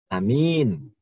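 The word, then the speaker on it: آمِين: A-nya pendek, min-nya panjang. Amin. Berbeda dengan kalau A-nya panjang, min-nya pendek. Amin. Artinya berimanlah atau berilah jaminan keamanan. Nah, ini berbeda. A-nya panjang, min-nya panjang. Sehingga menjadi lebih panjang lagi.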